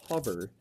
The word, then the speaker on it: hover: All hummingbirds can hover in midair. That was an interesting word that we saw there. Hover. The O makes a short U sound in there. And it was used in